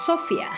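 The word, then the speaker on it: σοφία: Y la palabra nos dice que viene del hebreo, que se pronuncia chokma, y del griego, que se pronuncia sofia.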